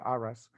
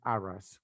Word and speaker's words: Urras: Uno de ellos se supone que es el viejo mundo, Anares, y otro que se llama Urras, se escribe, en inglés se pronuncia seguramente Arras, ¿vale?